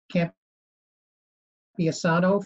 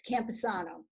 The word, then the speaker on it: Campesano: up we have camp isano from mac graphics thank you very much it's and you did a very good job pronouncing my name it's campesano but it's a long one i want to thank